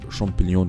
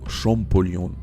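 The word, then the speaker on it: Champollion: لحد ما جا دور شامبليون هنا ما اسموش شامبليون اسمه شامبوليون بالمناسبه يعني جاء فرونسوا شامبوليون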